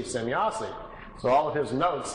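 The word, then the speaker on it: Semyase: He was trying to make some, write it down phonetically how the name sounded to him. So he wrote it out, S-E-M-Y-A-S-E, Zemyazi.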